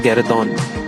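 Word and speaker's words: guéridon: इट is pronounced as गैरेदॉन, okay, it is pronounced as गैरेदॉन।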